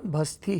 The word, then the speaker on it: भस्ती: दीपा जी ने खासतौर पर मुझे हिदायत दी है कि उनके नाम का जो दूसरा हिस्सा है उसका सही उच्चारण करें। अपन ने सीख लिया है। आप भी सीख लीजिए। सही उच्चारण भस्ती है और इसको दुरुस्त कर लें।